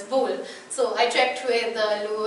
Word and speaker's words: Boule: who was more familiar with uh the French pronunciation and said no no it's bull so I checked with